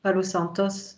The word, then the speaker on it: Palo Santo: Par contre, le Palo Santos, l'encens Palo Santos, c'est comme ça qu'on prononce. Ouais, Palo de Santo, Palo de Santos.